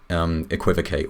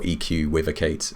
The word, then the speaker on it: EQuivocate: bundle one of them's called equivocate or EQ with a Kate as depending on how you want to pronounce it which has a